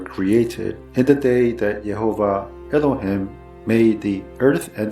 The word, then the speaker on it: Yehovah: For the purposes of this presentation, I will try to pronounce it to the best of my non-Jewish ability using the Masoretic pronunciation, Yehovah.